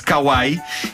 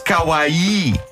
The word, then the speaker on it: kawaii: que eu disse chamar-se Kawai e afinal não pronuncia-se Kawai com ênfase no i porque Kawai diz a Kika Kawai tem o significado oposto Kawai é horrível e